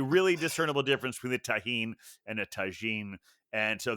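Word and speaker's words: tahini: bartender called it tahine. I think if it's spelled with a G, it's pronounced tagine, but if it's with a J, it's tahine.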